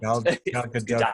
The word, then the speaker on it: Gal Gadot: You want to say Gal Gadot, but the T is actually not silent. Gal Gadot.